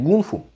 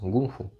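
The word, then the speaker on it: 功夫: этими гуни китаевед да Значит правильно говорить гунфу во-первых ударение в другом месте А во-вторых через г мастерство переводится гунфу переводится мастерство гун работа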